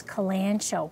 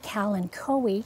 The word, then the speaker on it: kalanchoe: It's called zebra ears calancho, also pronounced kalanchoe. Actually, there's about 4 pronunciations, so knock yourself out.